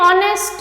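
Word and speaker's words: honest: एन ऑनेस्ट मैन। तो जो प्र प्रोनंसिएशन है जो साउंड है वो ओ का आ रहा है और एच यहां पर साइलेंट है तब भी हम यूज़ करेंगे एन का।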